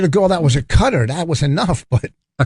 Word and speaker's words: Qatar: ] should I Oh cutter a cut yeah well Jesus I thought you talked about a country okay Qatar's now pronounce cutter I was like why